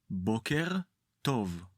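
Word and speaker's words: בוקר טוב: Let’s say it again, try to focus on the stress and the correct pronunciation: bóker tov.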